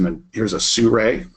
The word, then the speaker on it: Sirui: Here's a Sirui, as it's pronounced.